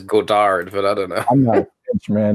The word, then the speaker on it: Godard: a zoo Goddard one you pronounce his name Goddard I've always heard it as Godard but I don't know